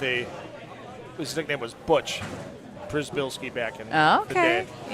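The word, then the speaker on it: Przybylski: and I walked up to I go it's Prisbilski, right?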